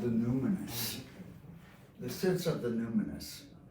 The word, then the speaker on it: numinous: Like luminous, like luminous. Yeah, Okay, as a result, we possess a yearning within our deeper self.